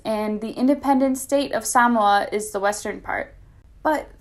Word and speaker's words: Samoa: i continue a lot of people call it samoa but the correct pronunciation is actually samoa so now you know american samoa is located